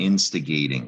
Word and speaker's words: instigating: It comes from the root instigate. That is a verb. It ends with a silent E. We're going to drop that E and add ing to get the verb. Instigating. It used to be a silent E there, remember? It looks like gat. That's where the long A comes from, instigating.